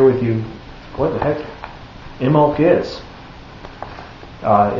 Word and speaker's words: Imbolg: you what the heck imok is uh it's U actually spelled i m b o l g but the B is silent so anyway I've got